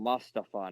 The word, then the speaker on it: Mustafa Ali: Why are we calling him Mustafa now?